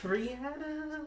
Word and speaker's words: Rihanna: say No, I'm saying her name is pronounced Rihanna. That's why I said it. Okay, whatever. I'm correct. Everybody pronounces it Rihanna. Rihanna. Yeah. But she said it's Rihanna.